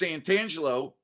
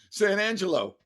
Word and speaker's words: Santangelo: same last name and it's not pronounced santangelo it's pronouncing it's pronounced san angelo and fp goes oh